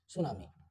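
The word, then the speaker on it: tsunami: it's name इ सुनामी इसकी spelling आप लर्न कर लीजिए टी एस यू एन ए एम आई सुनामी okay him स्खलन ओके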